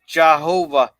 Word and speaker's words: Jehovah: uh meltic coer says jahovah is how it's pronounced Jehovah Ben way is